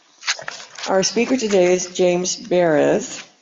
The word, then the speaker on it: Baraz: Our speaker today is James Baraz, rhymes with Paris, he told me.